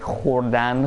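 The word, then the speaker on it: خوردن: We still write the v after the ch, but we don't actually pronounce it.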